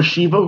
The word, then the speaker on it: Sheva: Or Shiva, however we like to say it. I say Sheva. Yeah, you said it right, Sheva.